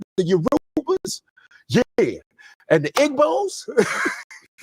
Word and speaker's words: Yoruba: It's Yuruba. And I'm going, it's Yoruba and Yoruba. And she just looked at me like, out of my like, okay, I get it. You can mispronounce it.